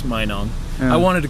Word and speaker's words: Minong: mayong sure I didn't know how to even pronounce Minong I wanted to call it manong and tro I'm learning there you go I'm